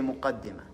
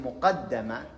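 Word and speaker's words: مقدمة: a book on tafsir, if you say muqaddima, okay? And this would be the introduction. While in the second pronunciation, muqaddama, it is like something he puts forward in case there will be a book about tafsir.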